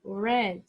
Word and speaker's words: read: Se lê read no passado. A mesma pronúncia da cor vermelha. Red.